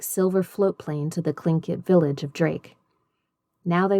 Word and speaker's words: Tlingit: Garvey said he was a Tlingit Indian, pronouncing Tlingit proudly, with a clicking of his tongue as if saying Tlingit.